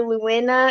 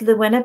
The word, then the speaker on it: Lewena: Luena. Am I pronouncing your name right? That's right. Thank you. So can you tell our listeners a little bit about yourself? Sure. Thank you. My name is Luena.